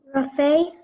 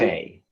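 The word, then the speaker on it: refait: Rafe, Rafe. can I have the definition? It's a drawn or inconclusive game or coup requiring a new deal or turn to effect a decision. Is it French? Rafe.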